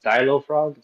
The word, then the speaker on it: dailofrog: Um, yeah, it's uh it's pronounced dial frog.